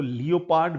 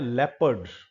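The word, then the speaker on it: leopard: यह शब्द बहुत सारे लोग इसको लियोपड भी बोल सकते हैं। एक्चुअली यह शब्द होता है लेपर्ड।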